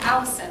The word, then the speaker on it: allicin: sit and that allows a compound called allicin to form not the girl's name that's spelled a-l-l-i-c-i-n because there's a compound on